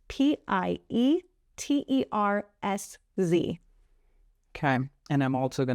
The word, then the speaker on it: Pietersz: But yeah, it's just Pietersz all across the board. And my last name is spelled differently than you would think. It's Pietersz.